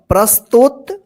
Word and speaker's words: प्रस्तुत: प में क्या है र पद इसको र पद पढ़ते हैं और य जिस अक्षर में लगा रहता है ना उसी अक्षर के साथ आ र का उच्चारण इसको पढ़ेंगे प्र प्र आधा तुत प्रस्तुत सवाद में स्वास्थ्य के आवश्यक पहलुओं